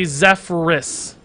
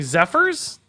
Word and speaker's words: Zephrys: It's R-Y, not Y-R. I know, that's why I say Zephrys. Zephrys. Are you saying Zephyrs?